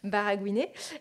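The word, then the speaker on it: baragouiner: mot donc ce mot c'est baraguin baraguin ça s'écrit B a R a g o u i n e r barragouiné et ça signifie ben pas très bien parler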